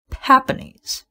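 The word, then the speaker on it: Papegnies: name oh my god so it's p a p e g n i e s and it's pronounced papanis what the hell does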